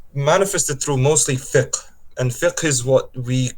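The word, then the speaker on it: fiqh: includes these Sciences and it's manifested through mostly thick and thick is what we call and translated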